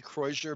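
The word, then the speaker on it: croisure: more like conjure but i'm not a french speaker and so i say croissure because it it acknowledges the fact that i'm not speaking french but i'm also helping people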